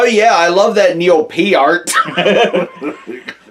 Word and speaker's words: Peart: Well, it's like how we just realized that we've been saying Neil Peart's name wrong for the last however many years.